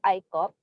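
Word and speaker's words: ICOP: i com i uh ikop is we pronounce as i cop okay we uh uh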